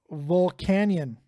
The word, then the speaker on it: Volcanion: Steelix full art EX just effing gorgeous it's pronounced Volcanion you it's the same [